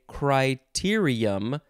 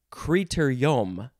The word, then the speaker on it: criterium: it criter yam what so you can say criterium or creator yom noun from 1970 it